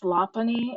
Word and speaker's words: Lopunny: But some of the Gardevoir and Lopunny, or I guess Lopunny is the correct pronunciation.